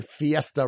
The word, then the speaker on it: Fiesta: myself the point is you're already saying Fiesta right why because of the burrito rule of pronunciation that I makes the long e sound so you're driving in